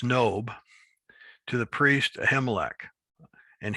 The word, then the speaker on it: Nob: It's not Nob. We would pronounce it Nob, just like we would pronounce the book of Job, but it's Nob, to the priest Ahimelech.